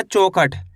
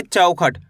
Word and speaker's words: चौखट: ऐसे नहीं पढ़ना, चौखट। कैसे पढ़ेंगे? चौखट। औ करके उच्चारण निकालना है, इसी तरीके से इनको पढ़ा जाता है।